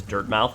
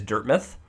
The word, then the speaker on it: Dirtmouth: For the longest time, until I heard Team Cherry pronounce it as Dirtmouth, I always pronounced it as Dirtmouth, like Dartmouth, the place where the university is, Dartmouth University, or is it Dartmouth College?